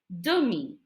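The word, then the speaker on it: demie: half the word per half in French is dummy d e is the m i e is me dummy and a half is a and this is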